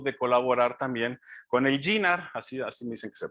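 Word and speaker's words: JINR: Pasando los años, después de Alice, salió la inquietud de colaborar también con el GINAR, así me dicen que se pronuncia, el GINAR.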